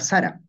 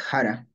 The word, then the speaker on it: sara: idea de su variación si yo digo Sara tal como está escrito tal como tienes que pronunciar pero si encuentro Sara y yo no digo Sara qué rayos es Sara no Tú tienes tu variante que es Jara tal vez No digo ni Jara incluso yo digo ara entonces encuentro Sara mi